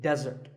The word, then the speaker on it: desert: should not be confused with desert here the stress is on the first syllable which is death desert